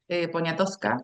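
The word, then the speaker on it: Poniatowska: de de Eleonora Carrington, que que recién la nombraste, hay un hay un libro que escribe también la mexicana Elena Poñatovska, Poñatovska, creo que se pronuncia, que se llama Eleonora,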